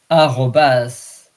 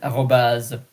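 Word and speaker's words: arobase: Then there is the slash and back slash bar and then asterisk asterisk and then the at sign arobas. Sometimes you add the e at the end arobaz.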